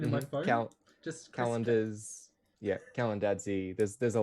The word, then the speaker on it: Kalandadse: is the origin uh so the pronunciation of my last name uh despite popular belief is calendars it's much more simple than people give it credit for it's from georgia